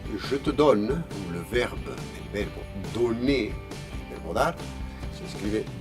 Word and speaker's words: donne: Por ejemplo, je te donne, el verbo donner, el verbo dar, se escribe dos Ns. En cambio, también es una rareza del idioma, no se dice je te donne, no, se dice je te donne, ¿vale?